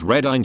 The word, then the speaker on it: Reading: Pronounced Reading to those unaware, edit, yes, it's like the one in Pennsylvania, and anywhere else that has the same name.